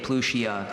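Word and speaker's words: Pluchea: Plushia.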